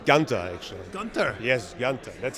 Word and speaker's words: Gunther: you know it's actually it's actually Gunther it's Gunda actually Gunther yes that's how I pronounce it at least but everybody has their